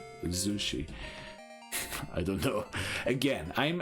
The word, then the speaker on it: Zushi: going to name it Zushi we already know that with a zed so it's Z not sushi Zushi I don't know again